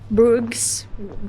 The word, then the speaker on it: Bruges: Hindi ako gumawa ng itinerary for Brooks pero like they pronounce it like Brook.